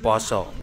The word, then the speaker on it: pasa: Upwasa was later modified to become fasting, and pasa to become poso, where in the Islamic Mataram era, words with the letter a were pronounced o. Hanacaraka became honocoroko. Pasa so poso In Hinduism, Upawasa is part of Brata.